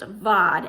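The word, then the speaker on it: בד: Now in English that means bad, but in Hebrew it's pronounced vad, and it has a very different definition.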